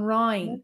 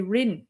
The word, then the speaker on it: Rinne: So one thing about ring Irish is the pronunciation of the I's. So on Rhine, whereas you might hear people say Rinne, Gaeilge na Rinne, which is fine on Rhine.